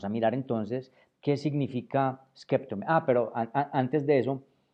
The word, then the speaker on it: σκέπτομαι: Bueno, en Creta, en la región de Creta, el verbo skeptome se pronuncia skefome. Skefome derivado en skefome. La mayoría de los atenienses hoy día y de la zona, digamos, del de la península pronuncian skeptome e suavizando la P por F.